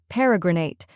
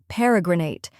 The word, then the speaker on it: Peregrinate: First, we have P-E-H, which sounds like pe in pet. Next is re, which sounds like the re in read. Then comes gr, which sounds like gr in grape. Finally, nate, which rhymes with wait.